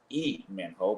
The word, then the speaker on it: Lee Min Ho: Well, it's pronounced E Min Ho, but Min Ho Lee, famous actor in Korea.